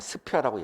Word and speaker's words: ISPPIA: 근데 이제 얘네들한테 물어보니까 제일 앞에 있는 I는 묵음이 돼가지고 그냥 스피아라고 얘기하는데 스피아라고 쓰는 사람들은 없고 그냥 스탠다드라고 줄여서 쓴다 이런 얘기가 됩니다.